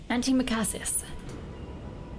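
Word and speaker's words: antimacassar: cushion or a sofa how do I pronounce this oh sorry anti-macasses anti-macassis there we go hideous Andy McCarthy's Adorn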